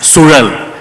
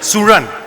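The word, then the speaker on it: Suzhal: And it's Sural. Try to pronounce that. कौन सा? Sural. Suran. Ah, there you got it. You'll have to bend your tongue when you Yeah.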